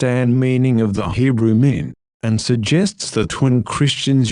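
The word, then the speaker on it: מין: old testament was written it is the word pronounced men that can be rhymed with green in modern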